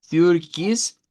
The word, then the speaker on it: Türkis: lo que es el Türkis. Türkis. Esta es una i es una i y esa que está acá, pero en realidad es una i redonda.